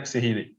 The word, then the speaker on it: Sehili: Sofiane Sehili.